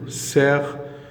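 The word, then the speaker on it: cerf: pan agneaux un agneau sert alors me prononce pas de f sert insère une ânesse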